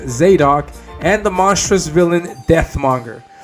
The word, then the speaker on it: Zadok: It's a big 10-page fight scene between the hero Zadok, pronounced Zadok, and the monstrous villain Deathmonger.